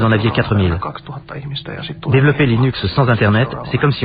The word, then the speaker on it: Linux: la catégorie easy facile comment prononcer linux et bien je prononce linux comme linux cependant si vous êtes linus torvalds ou le pronom serez sans doute linux d'un autre côté si vous venez de la côte ouest des états unis retrouver le prononcer inax mais linus torvalds se